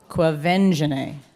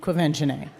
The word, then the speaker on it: Quvenzhané: Start again. Qua. Qua. Vin. Ven. Ja. Je. Nay. Say it all together. Quvenzhané. Yes. All right, that's probably the only correct time I will pronounce it. Quvenzhané.